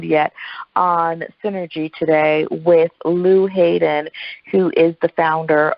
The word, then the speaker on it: Llew: oh and my email is Lou and I spell that differently it is ll e w at whales BMI it's